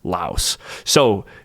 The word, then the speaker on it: Laos: and the country name I will stick with the pronunciation of this country as La so just to recap it will be the country of LA and let's say we're talking about uh Lao food I will be using the word Lao and not La ocean okay I hope that cleared everything up and I hope that